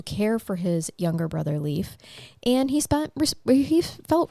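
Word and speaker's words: Leif: i f uh yes I think I've always pronounced that leaf it's it is leaf that's so cool it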